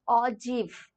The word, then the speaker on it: ogive: it as o g i v e you pronounce it as or GIF okay j e e v here everyone yes